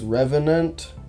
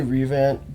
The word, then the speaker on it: Revenant: now I will say I know that revant is not how you say it it's Revenant or something like that I just say revant because it's easier to say and you know what